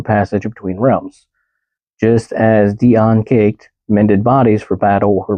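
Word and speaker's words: Dian Cecht: Dian Caked. I'm gonna go with caked. That's what it looks like to me, but it's spelled D-I-A-N-C-E-C-H-T.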